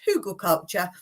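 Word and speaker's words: hugelkultur: bed and bless her I used to have trouble with what the word was hugle culture and I love all your pronunciations of it that made me laugh so much but I did put in the comments Hogle culture and Shirley was saying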